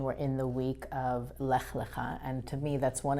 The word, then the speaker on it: Lech Lecha: And another name that is hard to pronounce, Lech Lecha. Right, often also called Lech Lecha sometimes, but it's Lech Lecha in the original Hebrew.